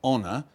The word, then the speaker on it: honour: I can't necessarily answer too many questions on it, but of course we inherit some French words like honour, and we don't pronounce the H.